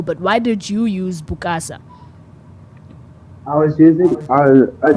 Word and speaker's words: Bukasa: is a rising so the original is is silent yeah oh so it's just mukasa yeah it's our original gives it the authenticness of itself yeah so so your name is bukasa yeah yeah what what's